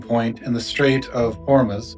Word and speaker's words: Hormuz: in the Strait of Hormuz, did I say it right? Ormus. Ormus, I'll say it again. In early 2026 when tensions hit the breaking point in the Strait of Hormuz, the internet manufactured a thousand versions of reality.